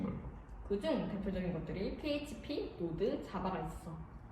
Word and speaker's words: Node.js: 흔히 노드라고 읽어.